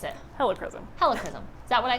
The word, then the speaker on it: helichrysum: That's how I pronounce it. I know other people pronounce it different. I say helichrysum.